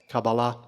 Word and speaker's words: Kabbalah: the christian kabbalists or they spell it with a cue two different words pronounced the same way kabbalah at the end of